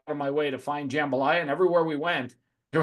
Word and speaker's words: jambalaya: my way to find jambalaya and everywhere we went there was no jambalaya all right so well you got say it you gotta say it like the locals do you gotta say jumbalaya so it's like J well